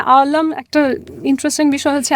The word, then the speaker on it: আলম: না আলম একটা ইন্টারেস্টিং বিষয় হচ্ছে আমাদের যে নাম আমরা বাংলাদেশে যেটাকে বলি হচ্ছে আলম। হুম, আমিও অনেক সময় যেভাবে উচ্চারণ করে দরকার কি এত কারেক্ট করার শব্দটা হচ্ছে আলাম।